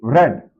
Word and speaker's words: read: Read the book becomes let the book be read. This is pronounced as read.